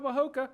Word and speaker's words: Majaka: So every time he scores something, I say, "Way to go, Mahoka," because that's how they pronounce it. Brendan Majaka.